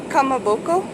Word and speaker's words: kamaboko: It's a fish cake, and how you pronounce it is kamaboko, red kamaboko.